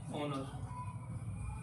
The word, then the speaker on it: honor: H है हमारा consonant है, तो इसको हम ऐसे बोलेंगे ऑनर। स्वर आ रहा है हिंदी में, इसका प्रोनाउंसिएशन में स्वर आ रहा है, साउंड में हमारा इसका स्वर आ रहा है, तो हम इसको क्या कहेंगे, एन ऑनर, एन ऑनर।